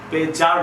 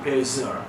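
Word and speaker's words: pleasure: প্লেজার না প্লেজার, জেড এর মতো উচ্চারণ হয়, it will my প্লেজার, it will my প্লেজার টু do that.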